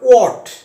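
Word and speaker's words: what: এই শব্দটাকে অনেকে হোয়াট বলে, এটা হোয়াট নয়, এটা উচ্চারণটা হবে ওয়াট।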